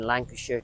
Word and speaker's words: Lancashire: Did I say Lancashire right? Yeah. I did.